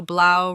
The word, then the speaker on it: Blau: Pronounce caro, Blau. Jese bolo Blau rhymes with Mau. Blau Blau.